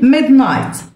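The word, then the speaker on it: midnight: بعض المفردات منتصف الليل ميد نايت ميد نايت الج اتش سايلنت ميد نايت تاريخ اليوم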